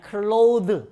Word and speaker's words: clothes: 자, 이런 경우에도 중간에 발음을 안 해주는 겁니다. 이것도 그냥 clothes 바로 들어가 줘야 돼요.